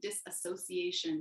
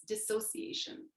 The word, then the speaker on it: dissociation: that's spelled so weird i always pronounce it disassociation but it's dissociation dissociation and disembodiment are